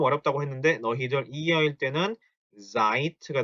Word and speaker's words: seid: 그래서 특히 요 녀석과 요 녀석은 단어 끝에 d가 들어가지만 독일어에서 단어 끝에 있는 d는 무슨 어떻게 발음이 된다고요? t 발음이 나니까 sind가 아니고 sind가 돼야 되고 seid가 아니고 seid가 돼야 됩니다. 요거 발음 주의하세요.